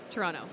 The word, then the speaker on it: Toronto: Toronto. Not Toronto? Toronto. You don't usually pronounce the last T.